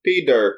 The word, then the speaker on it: Peder: And Peter is spelled with a D as in David. Peder. Peder.